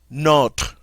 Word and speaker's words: nos: word for our is not not all right for the plural it's going to be no NOS notice we don't pronounce the S no not and no